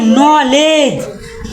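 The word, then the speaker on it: knowledge: जी यहां का पढ़ नॉलेज नॉलेज मतलब ज्ञान इ में का है साइलेंट के ठीक है के साइलेंट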